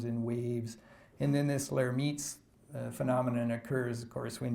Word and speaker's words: Lhermitte: The other one is this Lhermitte's phenomenon. And Lhermitte was French, so that's why his name is pronounced like that.